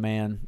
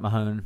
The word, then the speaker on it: Mann: Talking about Brendan Mann. It's pronounced Man, guys, not Mahone.